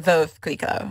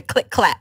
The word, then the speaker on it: Veuve Clicquot: And they said Veuve Clicquot. Veuve. Okay. Veuve Clicquot. So it's a Veuve Clicquot.